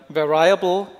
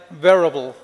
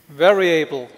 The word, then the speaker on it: variable: think, with like Europeans, we tend to pronounce it like as a German word, variable, where I able fonts, but this is not correct. So do not pronounce it that way. That's how it should be pronounced. Is like variable, variable. So that's like the Eselsbrücke to remember how to pronounce the word correctly.